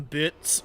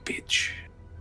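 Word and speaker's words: Bitz: Did he say his name was Bitch? Oh, it's Bits. Bitch. No, man, my name's Bits, like B-I-T-Z, man.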